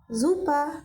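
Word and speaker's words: super: kind problem no problem জুপা সুপার তো আপনাদেরকে নতুন করে আমার এখানে বুঝাতে হবে না কেন এখানে জুপা হয়েছে এস এর পর ভাওয়েল আছে তাই এখানে এস এর উচ্চারণটা জ এর মত হচ্ছে ঠিক আছে এরপরে আলেস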